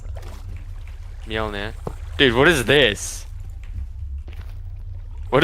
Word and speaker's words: Mjolnir: How do you pronounce that? Mjolnir.